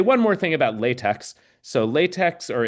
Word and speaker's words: LaTeX: Um, I should I want to say one more thing about Latte. So, LaTeX or it's really pronounced Latte. You pronounce the X like a K.